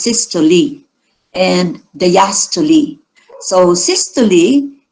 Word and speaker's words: systole: you have your systole it is pronounced sister lee and the yastuli so